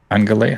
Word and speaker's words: ungulate: Ungulate. Hold on, I gotta pronounce.